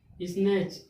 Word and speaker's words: snatch: जब CH के पहले टी आ गया SNACH, स्नैच।